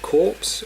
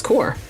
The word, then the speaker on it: Corps: you say that name is it corpse or core well it's core core I see there yeah corpse is a uh that's the it's the Ron pronunciation as far as I know go maybe I'm saying